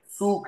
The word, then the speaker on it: Zug: wann der Zug in Hannover ist? अब जूग नहीं है, सूक है, सूक।